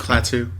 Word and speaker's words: Klaatu: Michael Rennie as Klaatu. Is that how you say it? Go ahead, Kyle. Correct. Klaatu. Klaatu. Yeah, with the full.